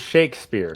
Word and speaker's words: Shakespeare: A comment from Sheikh Spear. I'm not sure how you pronounce it. He's Shakespeare.